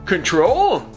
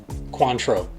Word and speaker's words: Cointreau: Add a half an ounce of coin trio Cointreau. Huh? Cointreau. Sorry, control? Okay, contrail? Coin truck? Coin purse? It's pronounced Cointreau, like Montrachet with a C.